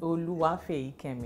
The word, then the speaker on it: Oluwafeyikemi: Yes, Oluwafeyikemi. I pronounced like a Yoruba lady.